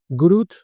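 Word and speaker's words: GR00T: que en español, Isaac Grut. Grut escrito gr, o sea, los ceros en número como si fueran os y por lo tanto se lee group y para terminar n1,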